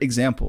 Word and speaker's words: example: there you go yeah even the word example like those are examples of this so example Zam example p p or right the the the first syllable and the third syllable are very short and I find that